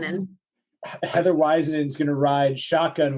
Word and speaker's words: Waisanen: Heather the Superstar um because it's easier to pronounce but Heather how how do folks say your last name it is wisen in Heather weisen is going to ride shotgun with me today